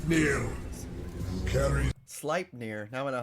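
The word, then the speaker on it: Sleipnir: storytelling his eight legged horse s near carries slip near now I know how to say it it was track number five with ruins SLI near his eight legged horse SLI near carries him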